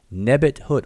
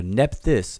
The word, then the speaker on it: Nebethut: Nebethut or Nephthys is how, you know, a lot of people know it from the Greek pronunciation.